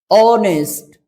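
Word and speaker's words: honest: लिया गया है किसका ऑनेस्ट ऑनेस्ट बोल के देखो ऑनेस्ट ऑनेस्ट इट मींस ओ का उच्चारण करते हैं और व है वो वेल वोल साउंड से रिलेटेड है तो साउंड के अनुसार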